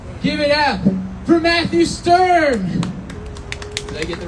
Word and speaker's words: Sturm: a stoner extraordinaire give it up for matthew stern did i get the right pronunciation yeah thank you um yeah i like